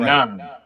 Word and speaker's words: Fanon: Fanon. Fanon. Pronounce it right. Fanon.